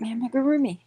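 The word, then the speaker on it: amigurumi: How do you say that word? That one just blows my mind. You're saying it right. Ami. You got it right. Amarroomi.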